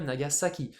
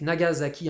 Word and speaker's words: Nagasaki: S a c'est Nagasaki mais attention en japonais ça se pron bien Nagasaki si vous dites Nagazaki un japonais il comprend pas il sait pas de quoi parler he c'est pas c'est pas le nom de la ville attention attention donc faudra